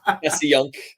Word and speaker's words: Passyunk: Passyunk.